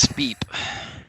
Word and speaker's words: Spip: Spip. That's the name of the rocket. It's supposed to be pronounced Speep.